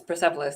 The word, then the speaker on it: Persepolis: Yes, Persepolis.